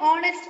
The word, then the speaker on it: honest: Then Then, in words like honest and hour, the letter H is silent.